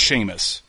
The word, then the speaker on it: Seamus: Because it's pronounced Seamus, even though it's not spelled with an SH.